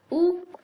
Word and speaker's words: août: So septembre, sept, and then ombre, and then août. So août, it becomes août. It's basically like how do you say août? How do I write it in English? Like ooh. So basically just like OU. Yeah, ooh.